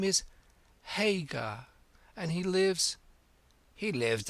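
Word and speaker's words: Haigha: when he's happy his name's his name is hagar he pronounced it so as to rhyme with maya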